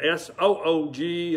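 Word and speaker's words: סוּג: got it sooo good s ug is it's spelling and soo-ji is its pronunciation some words might be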